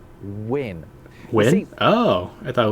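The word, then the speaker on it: wynn: It is an old letter called win.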